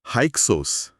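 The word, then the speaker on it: Hyksos: हक्कस लोगों के आने से हक्सोस एच वाई के एस ओ एस उच्चारण हक्सोस नाम ही बता रहा है विदेशी शासक हां नाम का मतलब ही यही है।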